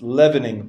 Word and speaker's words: leavening: So also here, by the way, in English, even though it's an EA, and in the word, if it was the word to leave, you would say leave. In this word, we say lev. So it's leavening process. It's as if there's no A there. It's just leavening.